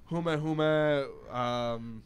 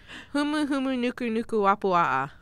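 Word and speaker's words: humuhumunukunukuāpuaʻa: I pronounced it, and I know it's like huma huma. You got the first letter right. Yeah, Humu humu nuku nuku wapua'a.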